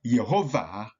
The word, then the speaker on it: Yehovah: and not W so it is pronounced like a V and not like w in English so we have yehovah in the Hebrew pronunciation